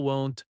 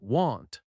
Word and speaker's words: won't: I'll must sound clear, not like ill, won't must not sound like want.